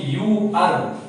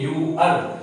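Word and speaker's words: ewer: ई डब्ल्यू ई आर, इसको हम लोग पढ़ते हैं यू आर। यू आर, यहाँ ई डब्ल्यू का उच्चारण हो गया योद्रुगल यू, इसलिए यहाँ होगा ये यूअर।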